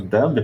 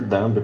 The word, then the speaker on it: dumb: That's very, very strange, very dumb policy. I mean, why? Okay, please repeat after me. Dumb. Don't pronounce the b at the end of the word. Okay, it's silent. Dumb.